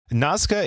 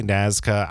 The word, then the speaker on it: Nazca: the proper pronunciation nazka nazka is the way that they say it down there you can also say nazka I'm saying nazka because